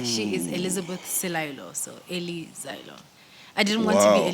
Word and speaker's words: Eli Zaelo: All right, Eli ZAELO. Is that how we pronounce it? Yes, Eli ZAELO. Eli ZAELO.